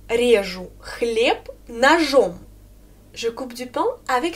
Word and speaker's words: нож: Я режу хлеб ножом. En nominatif, c'est нож. Нож, j'ai à la fin. Et fais aussi attention parce que ça se termine par j'ai, mais je prononce comme ch.